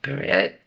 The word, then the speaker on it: beret: Beret? Beret. I don't know how to pronounce that.